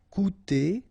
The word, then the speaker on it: coûter: Okay, remember we've got this accent circonflexe on the top of U here, but then you don't pronounce it. Coûter, so technically you've got this O and U together and you will have the sound OU, cou, coûter.